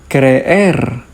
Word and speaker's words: creer: creer has two letter e and because the letter e is a strong vowel, this is going to have two syllables. creer A strong vowel next